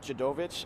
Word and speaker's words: Dziadowicz: that correctly yeah so my last name is pronounced Chad ovitch a lot of them call me so that's one thing I would have known right dude of it yes sir awesome okay